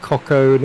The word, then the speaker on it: Coco: I've been saying Coco and all sorts of things. So So he said there's Cocoa, definitely like the Cocoa Pops.